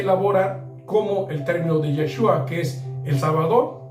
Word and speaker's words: Yeshua: llegamos al hebreo Entonces el verdadero nombre del mesías de origen hebreo se pronuncia yeshua y tiene significado que